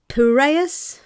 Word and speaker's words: Piraeus: How do you pronounce that? Where? Piraeus Oh, yeah.